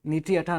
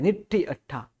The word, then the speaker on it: निट्ठी अट्ठा: नीठी अट्ठा बोलते हैं, नीठी अट्ठा, नीठी अट्ठा नहीं, निट्ठी अट्ठा सिद्धा सिद्धिम मम दिसंतु।